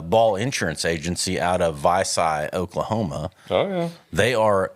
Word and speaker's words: Vici: Who the hell has a business in Vici, Oklahoma, Vici, though? Oklahoma. Vicky? Is that what? Vicky.